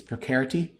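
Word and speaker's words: precarity: I learned a term this week called it's a it rhymes with scarcity. It's procarity where we we're living in this world where everyone feels everything's precarious now.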